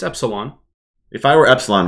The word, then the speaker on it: Epsylhon: but if I were I don't know how to say his name correctly called Terra or Epsilon eselon EP Epsilon okay it's Epsilon if I were Epsilon